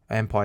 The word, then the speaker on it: MPYR: Empire is spelled MPYR.